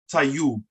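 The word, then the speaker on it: tayub: all right or okay spell t-a-y-u-b right that's tai you taiyu that means okay or all right but if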